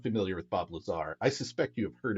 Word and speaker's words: Lazar: going to be talking about Bob Lazar and Area 51. Okay, and Now, it's before I pronounced dive into this, Lazar, not like yeah, laser or something.